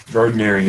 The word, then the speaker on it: Gardnerian: Gardnerian. I'll write it down. It's Gardnerian. It's because of Gerald Gardner.